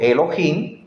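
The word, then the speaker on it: אלהים: amigos mire su escritura Elohim ahí está la pronunciación Elohim note que aquí en la franja azul claro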